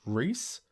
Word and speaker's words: Rhys: Being a dwarf, Gimli is the shortest of the warriors in the Fellowship, but his actor, John, I think it's pronounced Rhys, John Rhys Davies, is over 6 feet tall.